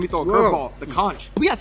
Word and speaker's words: conch: This, and actually, here's, let me throw a curveball, the conch.